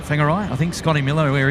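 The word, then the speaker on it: Whangarei: W's uh pronounced as PH's or Fs rather.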